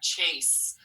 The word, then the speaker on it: chase: digraph ch a s chase that's correct chase so the s sounds like sounds like a regular s in there so be